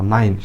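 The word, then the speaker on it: nine: এন এর জন্য ন, আয়ের জন্য হচ্ছে সরেয়া আর হিসি, আই, আর এন এর জন্য ন, নাইন। শেষের ইটা অনুচ্চারিত থাকতেছে, নাইন মানে নয়।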